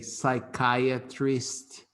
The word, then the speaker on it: psychiatrist: Observe that the PSY we pronounce psy. So we say psychology, we say psychiatrist, okay? Psy, not psy, no, psy.